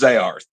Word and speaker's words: Zearth: It's pronounced Zayarth. Zearth.